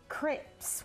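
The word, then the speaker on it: crêpes: I like how you say it. Crepes? Crepes. Am I just a total Utah girl? Crepes? That works too. I will say crepes for the rest of the show. Don't. Say it in a fancy way. No, it's okay. It feels more legit. It's just how they pronounce it in France.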